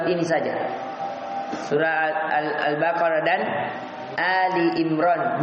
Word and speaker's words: Ali Imran: Albaqarah dan Ali Imran bukan Al Imran ya perhatikan ini cara bacanya kesalahan Al Imran salah Ali Ali itu artinya keluarga ahli jamaknya Ali artinya keluarga Imran ya Jadi bukan dibaca Al Imran salah tapi Ali Ali Imran artinya keluarga Imran dipanjangkan itu alifnya